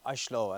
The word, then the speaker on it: Oslo: welcome to oslo or ashloe as they would pronounce it if if we were